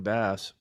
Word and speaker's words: Bass: Hey, I got to ask right off the bat, is it Jordan Bass, like the fish, or bass like Harry's jokes? Okay, Bass, like the No, fish. you got it. You got it right the first time.